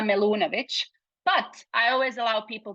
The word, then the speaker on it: Melunovic: of course um so the way I would actually pronounce it is my full name as if I would do it in my language which is Bosnian would be melunovic but I always allow